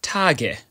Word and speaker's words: Tage: of nouns, for example, Tage, meaning days. In this instance, the letter at the end is pronounced as a short ö.